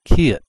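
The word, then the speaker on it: 키읔: And this is called the Kiet. Kiet. Kiet. This last K is pronounced like a T all the time.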